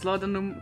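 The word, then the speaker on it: laudanum: missed something here that you pronounce latinum correctly it's an old tincture containing opium oh geez you know your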